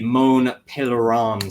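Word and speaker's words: Mont Pelerin: on to the ah here it is the moan pelan Society uh there you go that's how you pronounce it uh which was founded in 47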